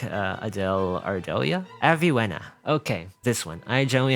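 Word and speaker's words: Avywenna: There is no letter V in the Polish alphabet, however, so I think we just pronounce this one as Aviwena.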